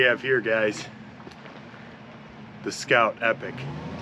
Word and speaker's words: Epoch: here guys the Scout Epic I kept pronouncing it epoch it is in fact epic now how do I